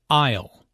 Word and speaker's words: aisle: Isle. Notice the silent S in aisle.